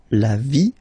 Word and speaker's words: vie: And then when they're ending with ie, like here, okay, so basically you don't pronounce the okay, so it will be only the sound I, okay, for instance, la vie, life, okay, la partie,